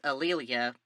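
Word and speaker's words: A'Lelia: named Alia alelia McWilliams is it alelia or Aila it's alelia because I looked at the website for this family and they say it's pronounced that way alelia thank you you're welcome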